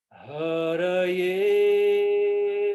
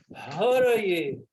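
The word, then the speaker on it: हरये: Haraye, haraye. Esses 2 primeiros A's, eles são breves, ok? Então, haraye. E o E, ele é fechado e tem uma tonicidade aí, né? Haraye.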